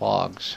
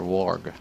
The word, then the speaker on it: warg: Wog or warg? Warg. How do you pronounce it, Doctor? I pronounce it warg, but okay. If I were, say, from the UK, I might say wog.